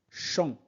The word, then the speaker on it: champ: Le cheval galope galope dans le champ. Am se prononce en on ne prononce pas p à la fin.